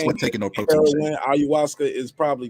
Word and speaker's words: ayahuasca: You get caught with a pound of, how you say, ayahuasca in the car.